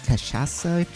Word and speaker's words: cachaça: A caipirinha, that's Brazilian, that's how do you pronounce it? Cachaça?